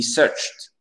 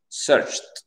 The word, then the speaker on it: searched: Les amis, lorsque vous avez un verbe qui finit par CH et vous avez le ED devient T. He searched. Searched. Pas searched. Parfait.